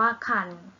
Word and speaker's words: ครรภ์: ตอบ ให้ ค่ะ คือ ถ้า รอ หาร อยู่ หลัง ไป ชนะ และ มี ตัว การันต์ นะ คะ อยู่ ข้าง หลัง รอ หัน เรา จะ ออก เสียง ว่า อ่าน ค่ะ อย่าง เช่น คุย กับ ตัว อย่าง คำ ว่า คัน หรือ ว่า ตั้ง ครรภ์ นะ ค่ะ อ่าน ว่า คัน สวรรค์ อ่าน ว่า สวรรค์